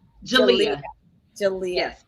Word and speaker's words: Jalia: help me again pronounce that name. It is Jalia. Jalia. Jalia. Jalia. Yes, Jalia.